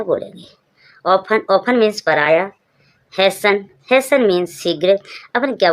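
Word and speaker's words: hasten: often often means पराया Hesson Hesson means शीघ्र अपन क्या बोल दिया टी आई ओ एन है टी इ एन है सन बोलेंगे इसको सन ही बोल देते हैं जब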